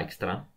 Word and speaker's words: Dijkstra: che l'algoritmo algoritmo di dykstra dykstra scritto di mix tra pronunciata extra tipo olandese sono a milano male